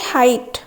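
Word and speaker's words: height: एठी हमर साइलेंट कोन हबो फाइट फाइट रे साइलेंट हबो एच ताने ऑप्शन सी हे जिवो करेक्ट आंसर 8 नंबर क्वेश्चन अछि हाइट एच आई जी एच टी हाइट option A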